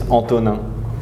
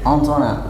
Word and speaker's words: Antonin: Well, my name is Anto, even if it's a nickname for Indonesian people, because my real name in French pronunciation is Antonin. Antonin.